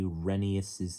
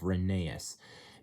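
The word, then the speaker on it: Rheneas: And before any of you ask, yes, that's how I say Renius's name instead of Reneeas because Renius is the correct way to pronounce it.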